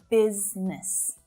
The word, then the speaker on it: business: Now, it really does look like there should be 3 syllables there, right? But it's not. It's not business, but business. Business.